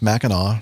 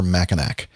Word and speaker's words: Mackinac: the strong winds of the mackinac straits it's pronounced mackinaw never mackanac the rule of thumb is mackinaw is the